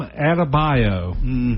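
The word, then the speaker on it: Adebayo: Well, that was Bam Adabio. That that you wouldn't think that would be how you'd pronounce his name, but he added to his bio for sure.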